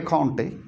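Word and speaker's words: Comte: So this hierarchy was given by Conte. That's how you pronounce his name, Conte.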